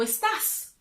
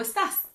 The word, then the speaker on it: estás: When you use the informal way, you have to pronounce the S. So you would say, ¿Cómo estás? Hola, ¿cómo estás?